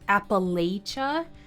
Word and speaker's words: Appalachia: is sometimes pronounced as Appalachia but in my experience if you talk to locals who were born in this region they don't pronounce it this way my father was born